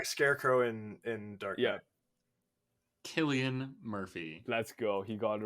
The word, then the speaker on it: Cillian Murphy: yeah, Cillian Murphy.